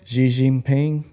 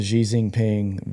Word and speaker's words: Xi Jinping: Xi Jinping. Wow. Did you see this? Y'all are bold for pronouncing that.